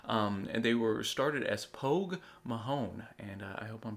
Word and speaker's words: Pogue Mahone: And they were started as Pogue Mahone, and I hope I'm pronouncing that right.